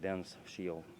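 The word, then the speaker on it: DensShield: It's called Dense Shield, D-E-N-S, Dense Shield. I pronounce it Dense Shield.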